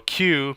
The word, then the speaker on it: queue: the deck so a cue pronounced by the letter q is actually from the